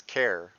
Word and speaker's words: char: use with variables called Char which is short for character however some people pronounce it as care because of character this video is very